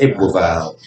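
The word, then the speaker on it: Ebbw Vale: um brain would drive a View and that I kind of pronounce well it doesn't make any sense when you spell it that's why so it's e b b w and then a new word v-a-l-e so it's evil valve so and the postcode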